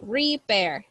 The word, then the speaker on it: repair: one in this word the I doesn't have a sound so we just say repair air like when we say air air repair repair okay now